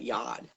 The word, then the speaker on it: Yod: Yod over here, it says allegedly it's pronounced Y-O-H-D. So it's the O sound.